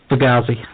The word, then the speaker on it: Fugazi: We are talking about Script, Misplaced Childhood, Script for Jester's Cheer, and Fugazi. I think that's how you pronounce it. Fugazi, yep.